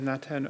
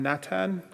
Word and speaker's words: Natan: As I've been introduced, my name is Natan Obed, President of Inuit Tapiri Kanatami. And just as Mata had said earlier, why I'm Natan is because there aren't H's in our language.